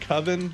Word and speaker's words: coven: called he it's it's it's called coven but he calls it koven because he doesn't know how to pronounce it so the whole movie